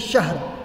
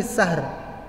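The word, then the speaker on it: شهر: Syahri tsnya syarat yaitu Sin besar yang ada titiknya tiga itu Lailatul qodri Khoirun Min Alfi Syahri harusnya begitu tapi dia bacanya apa kecil makanya menjadi Lailatul qodri Khoirun Min Alfi Syahri Apa bedanya beda sekali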